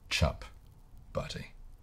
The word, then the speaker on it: chip butty: So, we are starting with the humble chip butty, pronounced for the uninitiated, chup butty. Kiwis hate nouns. We tend to sort of swallow as many nouns as we can.